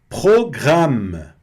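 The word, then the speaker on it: programme: Program pronúncia bem na garganta. Programe, né? Programa. Program, certo? Sempre o e discretinho no final.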